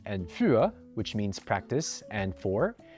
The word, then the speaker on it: für: Bringing back Dutch and German, the German U with umlauts and the Dutch long U are the exact same sounds as the French U. For example, in German you have the words üben and für, which means practice and four.